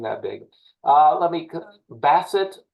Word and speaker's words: Bassett: big uh let me Basset right is how you say your last name I've heard other people say B like a dog yeah like yeah Basset would be French it's Basset B betet